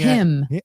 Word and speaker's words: hymn: That's him. Oh, yeah. That's him. No, it's her. Him. Her. HYMN. The N is silent.